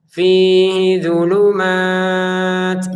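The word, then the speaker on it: فيه ظلمات: Jangan dibaca panjang ini loh Pak. Ini kan renggang Pak. Oke, secara tulisan renggang, tapi kan enggak ada tanda panjang, jadi dibacanya pendek saja. Langsung saja digabungin hamzah sama f-nya ya, ha sama dodnya. A kasyibim minasamaai fihi dzulumat. Ya, fihi dzulumat. Jangan dibaca apalagi fihnya dibaca pendek. fihi gitu ya.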